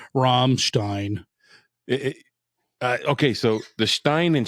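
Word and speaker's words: Rammstein: Romstein. Okay. So the Stein and Stein. So if it's I E, you pronounce the E sound. If it's EI, you pronounce the I sound.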